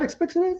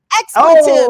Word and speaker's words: expletives: Not explicatives. Explicatives. No. It's explicatives. That's what I said. Expletives.